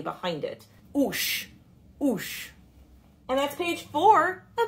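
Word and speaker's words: 'uS: then finally we've got the word for leg oosh now you notice here there's the car with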